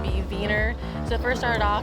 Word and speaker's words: Wiener: We say wiener dogs, but the German pronunciation would be Wiener.